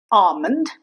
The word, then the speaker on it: almond: Almond. It's not almond. Almond. The L is silent here.